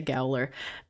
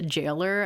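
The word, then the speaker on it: Gaoler: I always say Gowler. I don't know where. I think I used to pronounce them as Gowler, and then I learned they're pronounced Jailer, and I was like,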